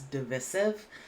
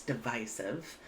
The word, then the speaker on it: divisive: Discord it's a verb I have also heard this pronounced as divisive I think there are Regional differences in the United States but uh technically here it's divisive and this means division